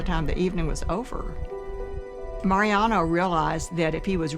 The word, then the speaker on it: Mariano: My name is Mariano Martinez pronounced in Spanish Mariano and I'm the inventor of the world's first frozen margarita machine.